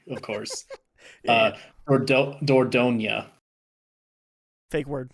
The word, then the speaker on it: Dordogne: googling the pronunciation. Yeah, Dordogne.